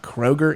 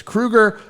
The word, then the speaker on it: Kroeger: pronouncing that correctly and I recently found out it's not Kroger it's Kruger I think so I'm gonna